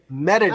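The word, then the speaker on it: Mérida: Pronounce it again, Complo. Merida. Merida.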